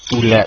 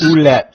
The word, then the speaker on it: Ouellette: Mike Ouellette, I think is this the way you pronounce his name? Ouellette. Yes. Ouellette. Okay, Ouellette.